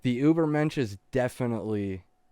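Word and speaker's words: Übermensch: In this chapter, he brings up Nietzsche, I believe, and the idea of the Ubermonk, the Superman. I think I mispronounced that. The Ubermensch.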